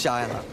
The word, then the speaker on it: Shiloh: You said it wrong, stupid. It's Shiloh.